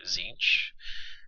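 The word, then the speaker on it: Tzeentch: the other chaos gods are zinch which is spelled tzen TCH so have fun pronouncing that um and he is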